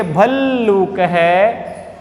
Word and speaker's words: भल्लूकः: तीसरे का उच्चारण करेंगे भल्लूकः। देखो आधा ल है, दूसरे ल में ऊ की मात्रा लगी हुई है, तो बोलेंगे भल्लूकः।